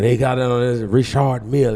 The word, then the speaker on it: Richard Mille: No, it's not even Richard. It's Richard Mille.